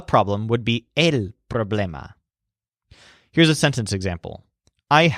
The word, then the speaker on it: problema: Joel's word for problem puts a stress on blame so the word is problema it's very obviously similar to the English word problem but with an A at the end but in Spanish the stress is on the syllable that sounds like blame problema note that this is